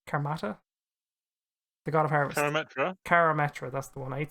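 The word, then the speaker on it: Karametra: name carr carmatter karmata the god of harvest carametra that's the one i need to learn how to pronounce that and you need to sacrifice this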